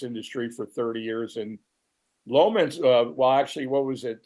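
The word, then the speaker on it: Leominster: the hill, or Yeah, the locals say Lowminster.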